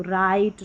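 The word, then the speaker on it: write: लेकिन डब्ल्यू जो साइलेंट रहता है। डब्ल्यू के बाद में आर रहता है। तो राइट रॉन्ग और रिस्ट यहां पर डब्ल्यू साइलेंट है।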